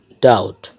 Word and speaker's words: doubt: ডাউট, বি টি যুক্ত থাকার কারণে এখানে বিটা সাইলেন্ট।